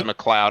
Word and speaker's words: McLeod: so uh yeah so is it mcglad how do you pronounce this his last name is mc lead we'll say mccl mccloud mcleod all right all right it's mccloud i have a friend with